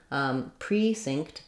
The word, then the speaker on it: precinct: is reduced then lastly we can also have the stress on the first syllable in these types of Words which we have in the word Precinct the pre-estressed it has letter e has a clear e vowel there's our tense vowel and then pre-synced the synced is the same we're missing that um sound here so it's not stinked but synced pre-synced but we still have